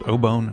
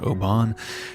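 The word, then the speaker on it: Obon: It turns out we pronounced the Japanese word ōbōn incorrectly. The entire episode is pronounced ōbōn, not ōbāhn.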